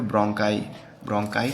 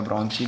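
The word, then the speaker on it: bronchi: फिर ब्रोंकाई क्या होता है, या ब्रोंची भी कुछ लोग प्रोनाउंस करते हैं।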